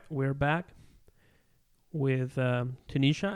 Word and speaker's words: Tenesha: we're back with um tunisha am I pronouncing your name right you are yes you are Tenisha okay cool Tenisha yes